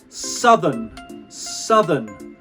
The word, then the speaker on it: southern: The tongue comes out and back in straight away.